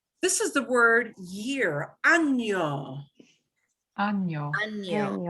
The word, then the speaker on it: año: There is a word without the nya sound, which is identical, except instead of a nya, it's just a n. You never want to pronounce año as this word, ano.